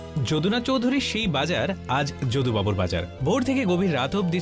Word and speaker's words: যদুবাবুর বাজার: একদিন আমি ভবানীপুরের যদুবাবুর বাজারে গেলাম, সঙ্গে ছিল কুহু। আচ্ছা দাদা, এই বাজারটা যোগু বাজার তাই না? যদুবাবুর বাজার, উচ্চারণের দোষে অনেকেই একে বলেন যোগুবাবুর বাজার।